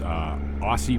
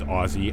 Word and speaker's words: Aussie: And to the person who informed me that I pronounce Aussie wrong, I'm sorry. It is Aussie.